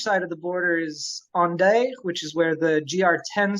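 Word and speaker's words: Hendaye: on a beach in onday which is spelled h-e-n-d-a-y-e it's on day and then you walk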